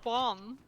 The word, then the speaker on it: Juan: You could be called Juan. Not Von? with a J, but the J is silent.